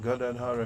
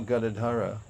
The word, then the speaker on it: Gadadhar: Prabhu Nityananda Shri Advaita Gadadhara Shivasari. And there is no Gadadhara, it's Gadadhar. So Prabhupada pointed that out. He liked us to pronounce things the way they were written, because that's what it indicates what they mean.